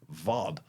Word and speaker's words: Ward: There's a German guy, German rower, and his name is spelled W-A-R-D, Ward. But because it's German, I then went and watched a few videos where people were talking about him to make sure I was pronouncing it right. And of course, it's pronounced Vod.